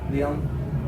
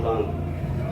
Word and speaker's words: Leon: And how do you pronounce that last name? Leon. Not Lung.